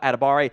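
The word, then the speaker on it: Adebawore: here at Abare uh the W will will confuse you it's not supposed to be pronounced in that it's just editamiwa adabari he does go by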